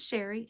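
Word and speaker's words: Chere: My name is Sherry and that is spelled C-H-E-R-E. It is spelled a little fancy but pronounced plain old Sherry.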